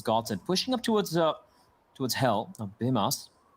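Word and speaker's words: Bymas: Bimas. I do believe that's how he pronounces his name. That's HLTV confirmed for as far as I'm aware.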